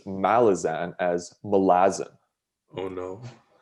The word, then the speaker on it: Malazan: oh and speaking of malazan the author of malazan or one of the creators um stephen erickson who's canadian by the way yup uh he pronounces malazan as malazan oh no like i heard it